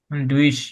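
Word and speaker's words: durch: এটার উচ্চারণ আমি দেখাই। ডি ইউ ডুশ, ডি ইউ আর টি। ডুইশ, ডুইশ মানে হলো থ্রো, কোনো কিছুর মধ্য দিয়ে।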